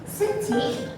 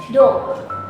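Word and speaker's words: 土: Untuk kunyominya itu dia dibacanya suci bila dia berdiri sendiri seperti ini. Lalu untuk onyominya itu dia dibacanya do. Nah, apabila dia ditemani oleh kanji ini, dia itu dibacanya do, boku. Ini ya, ini dibacanya do.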